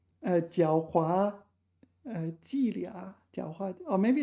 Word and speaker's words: 伎俩: Normally this is pronounced lia, but in this specific example it's pronounced liang.